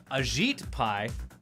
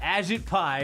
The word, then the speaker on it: Ajit Pai: to gut net neutrality ajit pai apparently that's how you say his name no i'll say it wrong just to piss him off agit pie remains undeterred drinking your